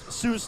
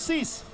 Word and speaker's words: Silas: So I have been corrected via text, thanks to Mark, that Silas is not pronounced Seuss like Dr. Seuss. It's Cease.